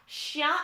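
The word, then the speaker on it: chien: so yes jake you're right you have shah shia and chaval so you can just pretend the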